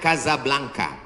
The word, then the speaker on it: Casablanca: nama negaranya Maroko ibukotanya tulisannya Casablanca cara bacanya Kasablanka Kaza artinya rumah Blanca artinya putih Kasablanka rumah warna putih bahasa Arabnya ada rolbok